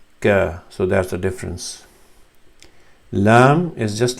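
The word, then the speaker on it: لام: So you touch the tip of your tongue with the inside of the top of the mouth, which is hard palate here. L, l, lam, l, lam.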